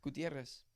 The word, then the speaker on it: Gutierrez: roll the RS yeah Gutierrez Gutierrez yeah two RS means you roll them so Gutierrez gutierre yeah